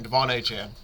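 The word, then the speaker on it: De'Von Achane: way that is how you say his name Devon aan yeah it sounds like he went to IR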